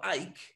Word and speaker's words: Ike: see an advert for ike which literally would rhyme with bike because that's the kind